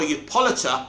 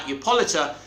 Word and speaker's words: Hippolyta: Now, I think it's Justice League 3 where Diana returns to Themyscira and her mother, Hippolyta, that's how you say her name right, Hippolyta, dies.